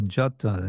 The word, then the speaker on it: jata: It's transcribed J-O-T-O. And that's because it would be pronounced with a kind of, I don't know what it's called, a dark, dark A sound, the A, which is short, becomes O, but it's not O, so it's not Joto, it's Joto.